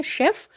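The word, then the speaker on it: chef: Fourth है शेफ। Again देखो यहाँ पर CH है और यहाँ पर जो प्रोनाउंसिएशन है वो है श साउंड।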